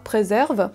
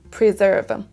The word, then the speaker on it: preserve: mot est écrit et ne dites pas preserve écoutez bien ce qui est dit essayez de répéter preserve preserve preserve vous entendez bien donc que c'est un i d'abord et ensuite un e on peut donc soit